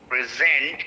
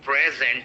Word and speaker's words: present: Present. It's not present here. It is present.